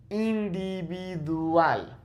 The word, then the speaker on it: individual: Individual. Okay? I. It's not no, it's I. Individual. Okay, just like the I in Spanish, it's the same pronunciation.